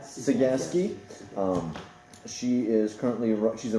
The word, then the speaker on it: Cegavske: Cegavske, the V is silent. Cegavske.